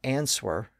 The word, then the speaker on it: answer: about the word answer it's spelled a NS w e r but we don't pronounce the W it's not answer it's answer well this was one of